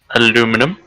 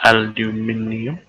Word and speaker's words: aluminium: I need aluminum or aluminium. I pronounce it aluminium. Because there's an I next to the U and M.